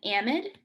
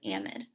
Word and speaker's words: amide: or a mid um those are different pronunciations based off of uh british english so in in england